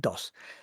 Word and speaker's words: DOS: I always call it DOSS because DOSS in Spanish is is DOS.